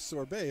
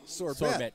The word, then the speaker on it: sorbet: If you didn't have that silent T pronunciation at the end of sorbet, if it was sorbet, you could say it's a sure bet to get a sorbet at Arcata Scoop.